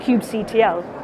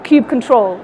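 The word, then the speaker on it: kubectl: through a module called Cube CTL or cube control depending on how you want to pronounce it so you can form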